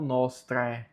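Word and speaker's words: nostrae: O A está junto com o E, o A fica mudo. E nós só dizemos então nostre.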